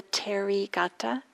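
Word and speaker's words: Therigatha: poems it's called the terry gata there's a number of different translations available if you're interested you could always google it h e r i terry we don't pronounce the h it's um a word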